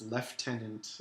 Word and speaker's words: lieutenant: colonel CEO lol yeah why do British people called lieutenants leftenant even though it's not spelled with a half still spelled like Newt